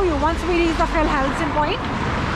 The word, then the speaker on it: Fjellheisen: Fjellheisen, right? Fjellheisen. Have to get the pronunciation right.